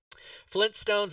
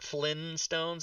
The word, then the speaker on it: Flintstones: Flintstones is spelled with two T's. It's not Flynn Stones, it's Flint Stones.